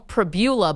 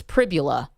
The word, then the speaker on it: Pribula: I want to call him Pribula, but it's Pribula.